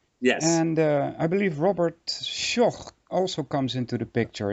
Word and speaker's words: Schoch: And you pronounce his name correctly, as it would have been in Dutch. But yeah. He just calls himself Schoch. Oh, okay. Okay, but actually you're correct. That's how it should be pronounced.